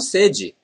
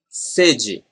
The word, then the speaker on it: sede: Eu estou com sede. Sede. Eu estou com sede. Notice that this first E is very similar to the letter E in they.